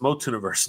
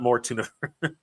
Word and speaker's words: MOTUNIVERSE: Spencer, it's MOTUNIVERSE, not more tuna. More like universe. Scoob. It's not spelled with an R, Scoob.